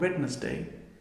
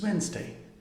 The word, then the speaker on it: Wednesday: this word is asthma this one is not wetness day it's wednesday and this one is